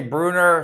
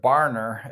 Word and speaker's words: Barner: Bruner, short of the first down. He's having a great game, really, A.J. Bruner. I guess you pronounce it Barner, A.J.